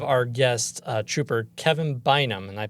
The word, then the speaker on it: Bynum: today we have our guest uh Trooper Kevin bam and I pronounced that correctly right yes you yes sir